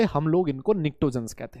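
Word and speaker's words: pnictogen: अरे भाई P silent होता है। क्या होता है सर? पी साइलेंट होता है। यस यस यस, अरे बोलो पी क्या होता है बेटा? साइलेंट। इसी वजह से निक्टोजन।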